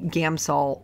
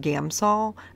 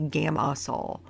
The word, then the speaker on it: Gamsol: the us it's just gamsol I always want to say Gamma Saul gamo so anyway that's wrong there's no vowel in there so anyway using a